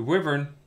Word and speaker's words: wyvern: the river and the wyvern it's pronounced wyvern is it flying over